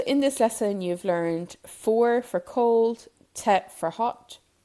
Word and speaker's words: fuar: So in this lesson, you've learned foor for cold, te for hot, shay for it, and you've also learned me for me.